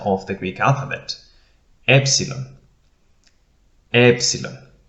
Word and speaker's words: epsilon: of the greek alphabet epsilon epsilon it is equivalent to our letter e as in net e e epsilon as